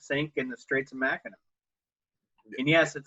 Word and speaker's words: Mackinac: also one that sank in the Straits of Mackinac and yes it spelled mechanic but it's pronounced Mackinac right but yet like you know there's the